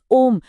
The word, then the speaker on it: ओम: ओम असल में तीन अक्षरों से मिलकर बना है। अ, उ और म।